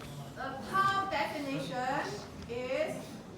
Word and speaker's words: tau: You know how to pronounce this, right? This is tau will equal to V over volumetric flow rate V naught.